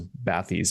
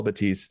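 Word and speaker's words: Bathys: It's spelled B- A T H YS. They're French, so a lot of a lot of us thought it was Ba'es before we found out how to how to say it properly.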